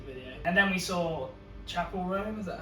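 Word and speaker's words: Chappell Roan: And then we saw Chapel Roan, is that how you pronounce Yeah.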